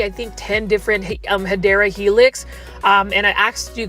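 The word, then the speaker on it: Hedera helix: guys look at this hedra helix or the correct way to say it is hadera Helix which is in English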